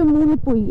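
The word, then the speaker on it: Hmunpui: এন পি ইউ আই আচ্ছা এটার উচ্চারণ হচ্ছে মূল পুই এইচ টা সাইলেন্ট কিন্তু এটা জমপুইয়ের পুরনো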